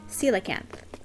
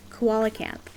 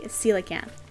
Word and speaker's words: coelacanth: try to catch the coelacanth. And I think I've maybe touched on it very briefly before. As kids, my friends and I, we always pronounced it koala camp.